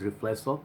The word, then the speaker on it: Riflesso: Okay, and I kind of got that right first time because I read it as Riflesso, and I went to net and I checked how do you pronounce it and what does it mean.